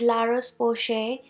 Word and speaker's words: La Roche-Posay: in my hand is La Rose poche moisturizer I pronounced well because it is a French company and Lars Bosch a